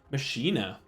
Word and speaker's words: Machina: Machina.